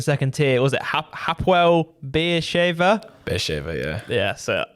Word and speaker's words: Beersheva: Was it Hapoel Beersheva? Beersheva, yeah. Yeah. So pronunciation, spot on.